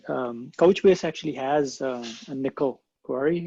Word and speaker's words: N1QL: i it's called n it's pronounced nickel but n1ql is is